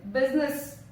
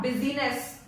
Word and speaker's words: business: Now the first word is business, not busyness. Business. Business. Letter I is silent here.